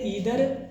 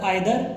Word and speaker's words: either: हालांकि समटाइ्स we pronounce it एज अ आइदर और समटाइ्स नाइदर। क्योंकि हमारे पास दो तरह की इंग्लिश है। एक ब्रिटिश इंग्लिश और एक अमेरिकन इंग्लिश। तो कभी जो अमेरिकन इंग्लिश में हम इसको आइदर एंड नाइदर। और ब्रिटिश इंग्लिश में इसको ईदर और नीदर। तो इस तरह से हम इनको प्रोनाउंस करते हैं।